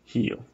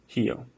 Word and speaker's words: Rio: So in Rio, some people actually say Rio. But in general, most of Brazil, you would just say Rio, right? Imagine there's an H there. Rio. Rio.